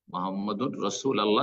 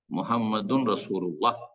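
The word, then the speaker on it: مُحَمَّدٌ رَسُولُ اللَّهِ: মুহাম্মাদুর রাসূল আল্লাহ নাই, মুহাম্মাদুর রাসূল আল্লাহ যে পড়লেন এটা ভুল উচ্চারণ, মুহাম্মাদুন রাসূলুল্লাহ যদি শুদ্ধ পড়তে চান।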